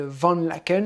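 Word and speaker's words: Van Laeken: famille parce qu'elle s'appelle vendent laquelle il faut que c'est comme ça que ça se prononce et vendre la can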